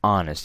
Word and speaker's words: honest: say an horse right and honest you see the sound and we use an with that so an honest person